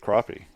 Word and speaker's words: crappie: people don't realize that it's like with crappie um or crappy however you want to pronounce it um i you never